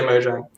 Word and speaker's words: Mojang: It's Mojang. We actually released a video like a month ago when we did the rebranding. We actually had like a video which pronounced Mojang. It is officially Mojang.